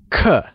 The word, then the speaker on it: 刻: 刻 is pronounced using a falling tone.